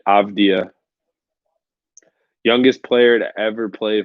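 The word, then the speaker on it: Avdija: not a good thing denny abdia is how you say it avdia youngest player to ever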